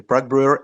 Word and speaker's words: Prague Brewer: Is it Prague Brewer? GM to Connext team. Yeah, exactly. Prague Brewer.